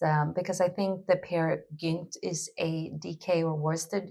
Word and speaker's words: Peer Gynt: Um it depends like I'm Swedish, so I would I would pronounce it Peer Gynt, but I don't know how it would pronounce it in Danish.